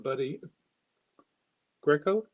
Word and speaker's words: Buddy Greco: buddies back in town buddy greco i think is how he pronounces it this one is six